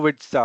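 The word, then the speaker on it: Boavizta: database sorry it's it's bitza Uh it's difficult to pronounce it's B O A V I Z T A okay fine but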